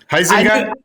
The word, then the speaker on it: Huizenga: Isaac.